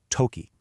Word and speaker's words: とき: And that word is toki, pronounced toki.